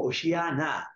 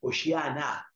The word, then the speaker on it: hosanna: que significa propiamente hosana, pues hosana viene del hebreo, es una palabra realmente tomada del hebreo, se pronuncia algo así como oshiana, oshiana, en hebreo y en arameo, oshiana.